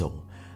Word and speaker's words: Gryzzl: I dunno if you guys have seen Parks and Rec, but this reminds me of the fictional telecom company Gryzzl (Pronounced Grizz-ill), a parody of absurd startup culture.